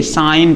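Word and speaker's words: sign: साइन पढ़ेंगे। यानी क्या कहा गया? एन के पहले जी आए तो भी साइलेंट रहेगा।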